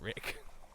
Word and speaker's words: Reich: Okay, it's spelled Reich, but he pronounces it Rick.